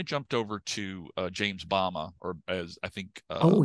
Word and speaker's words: Bama: over to uh James Bama or as I think oh yeah the aora Bill Stout Bill Stout was telling me it's actually pronounced Bama but um it that the